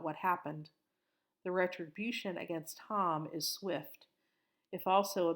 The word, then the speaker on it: Ham: Noah has three sons: Shem, Ham, the youngest pronounced Ham, not like the meat, and Japheth.